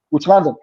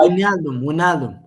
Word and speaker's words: Wijnaldum: Which London?